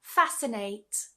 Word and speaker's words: fascinate: But we're just going to say for the sake of this video that the C is silent. And what we tend to do is just pronounce it as a s sound.